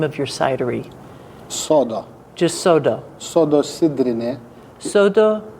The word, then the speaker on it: Sodo: Sodo.